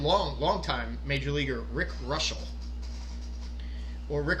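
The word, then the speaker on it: Reuschel: Pirates pitcher and long time major leaguer Rick Russell or Rick Ruschel, in case you want to pronounce it that way.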